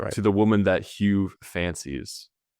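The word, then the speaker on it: Huw: Hugh is spelled H U W if you can believe that.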